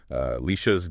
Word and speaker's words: Alesha: Now, just to set the stage for you right up front, we are operating today as Alesha's, and that's pronounced Alesha's dedicated AI team.